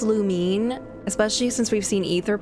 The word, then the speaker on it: Lumine: I say Lumine, I know it's pronounced Lumine, especially since we've seen Etha pronounce her name Lumine. I just I've just been doing it as Luminae for too long, so I've I'm just going